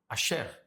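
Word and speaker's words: אשר: Então, Asher, que na nossa pronúncia, na pronúncia da tradição, é Asher no hebraico.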